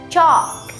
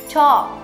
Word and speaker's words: chalk: Chalk. Chalk. Đọc lại theo cô nào. Chalk. Nào cô sẽ dạy các bạn âm CH trong tiếng Anh sẽ đọc là như nào nhé.